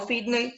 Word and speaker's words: Finney: Finney, Charles Finney, no Finney, sino Finney, se escribe con doble N, Finney.